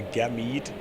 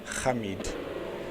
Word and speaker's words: Hamid: For a very long time I called him a Gamid, until one day he just phoned me and said, you say my name, Hamid. So there's Ash.